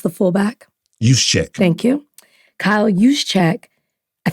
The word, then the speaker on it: Juszczyk: But did you see the report, Kyle, whose name I cannot pronounce, the fullback? Juszczyk.